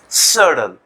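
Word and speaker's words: subtle: अच्छा, अब सबटल है, अब बाज वर्ड्स होते हैं जैसा कि सब्सटेंशियल, वहां पे बी पढ़ा जाता है, लेकिन यहाँ बी नहीं पढ़ा जाएगा। तो अब कैसे पता चलेगा कि ये साइलेंट लेटर है या उसको पढ़ना है? तो आप डिक्शनरी देखिए, आपको इस तरीके से सिंबल्स मिलेंगे, तो इसका मतलब है कि बी बिल्कुल नहीं है यहाँ पर, सडल।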